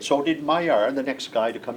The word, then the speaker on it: Maillard: His name was Maillard, and the pronunciation is, at least then, Maillard. The accent is on the first.